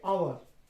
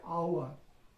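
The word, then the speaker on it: hour: কি উচ্চারণ করা হচ্ছে, আওয়ার। তারপর সেখানে কিন্তু উচ্চারণ, ইট প্রোনাউন্স লাইক আ ভাওয়েল সাউন্ড, তাই না? এইচ ইজ সাইলেন্ট হিয়ার, এখানে এইচটা সাইলেন্ট আছে, ওই জন্য এখানে আমরা,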